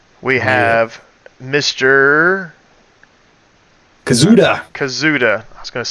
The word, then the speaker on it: Kazuda: Kazuda.